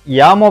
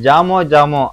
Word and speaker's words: Jamo: நெக்ஸ்ட்டு பார்க்க போகிற பிராண்ட் என்னன்னு பார்த்துட்டிங்கன்னா யாமோ பிராண்டுன்னு சொல்லுவாங்க. இது இங்கே நிறைய பேர் வந்து ஜாமோ அப்படின்னு சொல்லி நம்ம உச்சரிப்பை மாற்றிட்டோம். ஸோ ப்ரொனன்சன் படி இதோட என்னன்னு பார்த்துட்டிங்கன்னா யாமோ அப்படின்னு தான் நம்ம சொல்லுவோம். இந்த யாமோ ஸ்பீக்கரில் 5.1 ஸ்பீக்கர் பாக்கெட் தான் நம்ம எடுத்துருக்குறோம்.